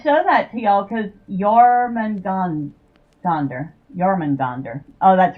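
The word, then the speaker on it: Jörmungandr: I just thought I'd show that to y'all cuz Yorman gandonder. Yman gandonder. Oh, that's right. The J isn't pronounced J in in uh Nordic languages. It's pronounced Y.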